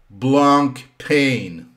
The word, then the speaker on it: Blancpain: Blancpain.